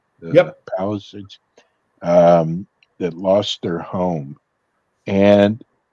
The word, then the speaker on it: Palisades: Is that how it's pronounced? Yep. Palisades.